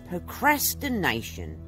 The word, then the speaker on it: procrastination: All right, guys, it's got five syllables. Prəʊˌkræs.tɪˈneɪ.ʃən. Procrastination.